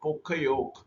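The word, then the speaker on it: Poka-yoke: Pokayok, developed by Japanese manufacturing engineer named Shingio Shingo, who developed this concepts of Pokayok, pronounced as Pokayok, meaning avoid.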